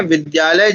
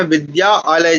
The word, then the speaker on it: विद्यालय: लेकिन क्या हम ऐसे बोलते हैं? विद्या जैसे अगर कोई मान लो एक बालक है वह कहां जा रहा है?